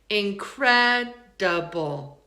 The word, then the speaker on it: incredible: There are always exceptions, but let's look at the third syllable. Incredible. Incredible. Incredible. It sounds like doesn't it? And that's normally an I. But we've reduced it down to a schwa.